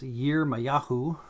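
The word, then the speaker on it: Yirmeyahu: original hebrew than english jeremiah is year mayahu and isaiah is yeshayaou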